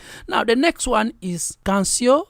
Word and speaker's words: Canción: Now the next one is Cancio. Is that the way you pronounce it? Canción, yeah.